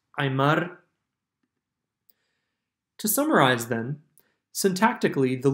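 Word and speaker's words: ayeemár: As such, the noun ayeemá, food, surfaces with its linker, r, and high tone, to be pronounced ayeemar.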